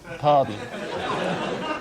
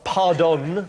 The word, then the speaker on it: Parton: Pardon. It's pronounced... In America, it is pronounced pardon.